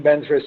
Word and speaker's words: Vajra: So hopefully you will accomplish everything in practice if you say Om Benzra Sattva Hum, or you pronounce Om Benzra Sato Hum.